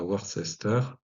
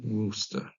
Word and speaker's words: Worcester: Et Weo, Weogorna Chester va donner, comme la sauce, Worcester, attention, hein, la prononciation est régulière, c'est pas Worcester, c'est Worcester. Voilà.